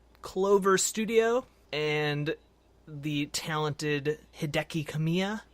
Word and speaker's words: Hideki Kamiya: Studio and the talented Hideki Kamiya. Probably pronounced that horribly wrong. No, I think that's right. I practiced, so I think you got it right, yeah.